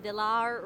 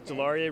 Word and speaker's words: DeLaurier: elizabeth and today i am interviewing john from delaware roofing is that how you pronounce it correctly it's a hard it's a hard one sometimes i forget it's delaurier roofing and we're in athens georgia how has